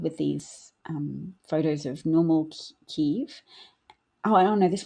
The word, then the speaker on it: Kyiv: So this is all in Kiev, or Kyiv. Kyiv is the more Ukrainian pronunciation.